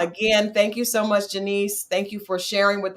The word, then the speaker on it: Janice: And all social media is at Janice for Georgia, and it's spelled just like Janice. But it's Janice. I was born in Jamaica, and that's how we say it there.